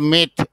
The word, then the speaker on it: meth: 1 কার্বনের নাম হলো মিথ, উচ্চারণটা হলো মিথ, METH।